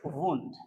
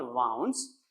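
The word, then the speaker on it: wound: Next वर्ड इज वुंड, इसको क्या पढ़ते हैं, वुंड, नॉट वाउंड्स, वुंड पढ़ते हैं, जिसका मतलब होता है घाव, इंजरी, चोट लगे, गिर गए, वो वुंड हो गया, जख्म हो गया, उसको वुंड प्रोनाउंस करते हैं।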